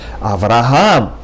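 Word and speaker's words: אברהם: In Hebrew, you would pronounce it with the accent on the last syllable, Avraham. Not Avraham, not Avraham, but rather Avraham.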